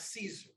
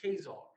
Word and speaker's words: Caesar: out so much history that word is not caesar that's what they told us in their schools caesar if you look at that pronunciation up even on wikipedia that's kazaar they took the title of